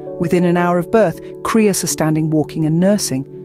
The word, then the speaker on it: Cria: Did you know a baby llama, charmingly coined as a Cria, pronounced Cria, is usually a singular delight for mama llamas, as twins are a delightful rarity?